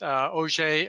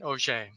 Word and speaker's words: Auger: AES or just plain OJ and by the way I often get asked about the pronunciation of the word O'Shea although it is spelled like those large drilling tools uh it is named